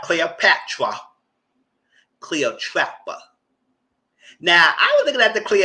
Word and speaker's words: Cleopatra: She worse needy pronouncing things weird. Well, so Cleopatra, not Cleopatra.